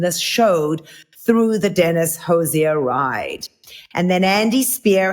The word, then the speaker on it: Hozier: it out of my word I've always said Hoosier they were pronouncing it Hosier so I realized that I heard them talking